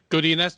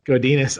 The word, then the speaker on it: Godinez: Yeah, Godinez, you've got it. Godinez.